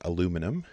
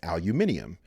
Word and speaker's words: aluminium: crust and that is aluminum if you grew up speaking british english you probably know this as aluminium and if you spell